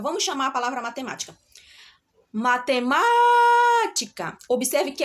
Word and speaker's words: matemática: olha a palavra matemática qual a sílaba mais forte da palavra matemática qual a sílaba tônica da palavra matemática vamos chamar a palavra matemática matemática Observe que é um